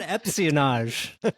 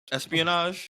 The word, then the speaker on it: espionage: open the door when you said epage and I think you said it twice me yes did I say it wrong ESP Espionage there you go Espionage sorry whatever I